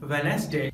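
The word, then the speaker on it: Wednesday: Friends, कुछ ऐसे words हैं जहां पर डी साइलेंट होता है, जैसे हैंडकरचीफ हैंडसम वेनेसडे और ग्रैंडसन।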